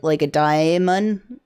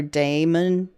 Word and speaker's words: Daemon: So there's actually two different ways to do Daemon, and there's actually different ways to pronounce it too, like a Daemon or Daemon. Daemon versus Daemon.